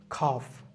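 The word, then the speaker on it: calf: মুখস্ত করে ফেলি যেমন কাফ বলতে কি বঝ গরুর বাচ্চাকে কাফ বলে এখানে উচ্চারণটা মানে এল এর উচ্চারণ থাকতেছে নাম খুক হাফ এম মানে হাতের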